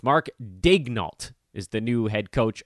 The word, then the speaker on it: Daigneault: I actually would have thought it was Daigneault, but apparently the T is pronounced. It's Mark Daigneault is the new head